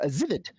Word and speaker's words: Livid: A Livid is actually the pronunciation. Livid, yes. It's so my parents used to josh with me that they were livid at what Livid would do. So that's how we remember how to pronounce it.